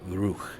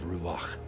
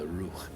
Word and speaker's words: Ruach: They put a default Aleph, but the Vav is a vowel, so it would more correctly, I believe, be pronounced the Ruch instead of Ruach. It's the Ruch.